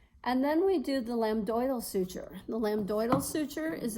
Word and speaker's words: lambdoidal: So lambdoidal suture is how you say that. On the sheet it says lambdoid suture, but you can say lambdoidal also.